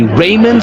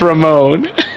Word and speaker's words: Ramon: And is that the correct pronunciation? That's correct. Some people say Raymond, some people say Ramoncito, some people say every other thing, but it's Ramon.